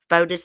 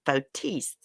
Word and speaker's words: Fotis: lawyer dumbass norm pattis even though fodis is dead actually you pronounce his name fotis he wanted foldus's estate